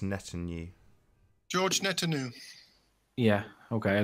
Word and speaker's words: Netanyahu: It's pronounced Netanyahu.